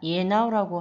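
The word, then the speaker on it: ianao: 두 번째, 너는 혹은 당신은 이라는 뜻으로 야나오가 있는데 문장으로 하면 미수추 라누 야나오. 근데 이야나오라고 하기보다 예나오라고 하는 발음을 더 많이 들었던 것 같습니다.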